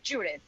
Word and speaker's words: Judith: it's with TH at the end. So it's Judith.